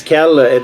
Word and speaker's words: Kjell: I'm not sure if it's Kjell, the J is silent.